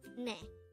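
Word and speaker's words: 내: just one syllable and this is pronounced as NE the word net is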